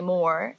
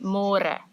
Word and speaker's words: môre: It's a little bit easier, but you have to remember to read môre, because in English it's spelled like more. So don't say more, say môre.